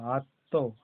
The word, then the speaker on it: আত্ম: আর এখানে দেখো আ তয় ম, আত্ম, আ তয় ম, আত্ম, হাকার আকার হারা, আত্মহারা। এখানে তয়ের উচ্চারণ হবে, ময়ের উচ্চারণ হবে, তাই এটা না, ময়ের উচ্চারণ হচ্ছে না, তটা জোর দিয়ে বলা হবে। আ তয় ম, আত্ম, হয়াকার আকার হারা। দেখো ময়ের উচ্চারণ হয়নি।